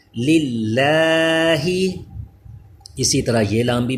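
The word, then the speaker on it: لِلّٰہ: Next دیکھیے کہ یہ اللہ کے لام سے پہلے لام کے نیچے زیر آ گیا ہے اس لیے اس کو باریک پڑھیں گے. للہ لام باریک ہے یعنی اس کو للہ ایسے نہیں پڑھنا بلکہ للہ.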